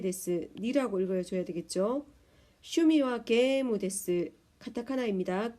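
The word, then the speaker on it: ゲーム: 슈미와 게이무 데스. 카타카나입니다. 게임을 게무 이렇게 표현합니다. 장음입니다.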